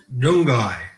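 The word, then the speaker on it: Nyunggay: Warren Mundine is at, how do you pronounce that, Warren? Nyungai.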